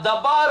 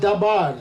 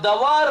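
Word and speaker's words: דבר: தபார் அப்படின்னு சொல்லி சொல்லுவாங்க that is dabar ஆனா இப்போ அதை ப்ரொனௌன்ஸ் பண்ணும்போது when you pronounce that இப்போ modern இப்ப pronounce today if you pronounce that as a modern way இதை தவார் அப்படின்னு சொல்லி சொல்லுவாங்க they called as the b அப்படிங்கறத வி ப்ரொனௌன்ஸ் பண்ணுவாங்க been put it as a v ஆனா நான் இப்போ moderniz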